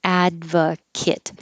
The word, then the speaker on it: advocate: to point out that here advocate sounds like adva kit the ate ending can be kit if it's a person or an adjective and if it's a t e as a verb i would advocate for